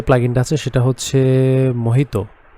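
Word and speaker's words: Mojito: তো এরপরে যে প্লাগইনটা আছে সেটা হচ্ছে মোহিতো। হ্যাঁ, আই থিঙ্ক মজিতো লেখা, এটা মোহিতোর মতোই উচ্চারণ হবে। ইউজুয়ালি মোহিতো এভাবেই উচ্চারিত হয়, বানানটা স্পেলিংটা সেম থাকে।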